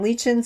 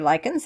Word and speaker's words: lichens: And then in your next session, you've got mushrooms and lichens or lichens, however you want to pronounce it. Both is correct.